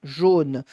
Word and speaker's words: jaune: Treina distinguir isso na sua fala. Jeune, jaune. Tenta conseguir pronunciar os dois.